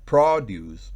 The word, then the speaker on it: produce: vez de decir prius yo puedo decir produce y significa producir lleva el acento en la última sílaba sí sí voy a